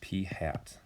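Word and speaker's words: p̂: as p with that carrot on top it's pronounced p hat okay that tells you it's that that number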